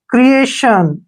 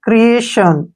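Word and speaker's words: creation: आई ओ एन क्रिएशन अब टी आई ओ एन को हमने शन पढ़ना है और इसमें जो आई का उच्चारण है आता है अ ऐसे क्रिएशन ठीक है ना क्रिएशन इसको पढ़ते हैं क्रिएशन अब जैसे नेक्स्ट है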